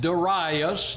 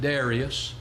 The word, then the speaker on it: Darius: In chapter 6, we read, it pleased Darius, now the young people today pronounce it Darius, it pleased Darius to